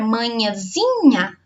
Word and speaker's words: manhãzinha: Só que na palavra manhãzinha é o zi.